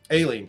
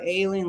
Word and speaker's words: Aileen: at judge Eileen Cannon alien Cannon I think is is really how you pronounce it a a-i-l-e-e-n is how ice got it oh it's not ailing like she's sick okay all right uh